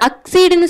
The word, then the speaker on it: accede: இதை உச்சரிக்கும் பொழுது அக்சீடுன்னு சொல்லணும், ACCEDE அக்சீடுன்னு சொல்லணும்.